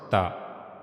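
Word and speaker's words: ت: Try to connect your tip of the tongue to the upper incor. And then read ta again. Ta. Yeah. So that's how you have to pronounce ta. You can you have to use your tip of the tongue and you have to connect this tip of the tongue to the upper incizers. That's how you can pronounce ta correctly. Okay.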